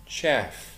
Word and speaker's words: chef: فرنسي chauffeur chef chef والكلمه ديت اصلها مش انجليزي والنطق بتاعها شاف وليست تشيف شيف سي اتش هنا شاذة شوية مش منطبق عليها قاعدة اللغة الانجليزية ان السي اتش بنطها تشا تشا هي هنا بنطها شيف شيف كلاون كلاون كوتش كوتش